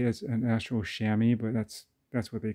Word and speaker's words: chamois: looks like it's pronounced to moist but uh it's you know like chamois like the chamois cloth that you use to dry your car if you're washing it